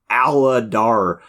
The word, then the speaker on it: Aladar: Aladar. You have like 3 hard syllables that have to be hit. I mean, there's 4-syllable name, but you have to hit Ladar. Aladar. Like, I guess it's not 4 syllables, it's just 3.